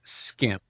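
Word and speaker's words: SCIM: within certain AD tools called skim skim is spelled SC cim and it's a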